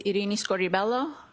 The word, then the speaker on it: Irini Scordi-Bello: My name is Arini Scoribelloo. That's spelled I R I N I S C O R D I B E L L O.